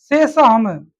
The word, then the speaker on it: cecum: देखो इसमें एनसीईआरटी में बस क्या लिख दिया है ना, है स्पेलिंग का है सेशन का, CE CECON, सेसम, CECUM, CECUM सेसम, है ना, सेसम कोलोन है।